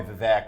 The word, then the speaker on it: Vivek: people people you know call me Vivek or something else it's the fake like cake Rama Swami yeah thanks